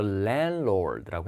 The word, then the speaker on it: landlord: 자, 그래서 101호에 사는 사람은 누굽니까인데 이 발음이 이런 집주인은 랜드로드라고 하지 않고 랜드로드라고 해요. 가운데 D 발음을 하지 않아요.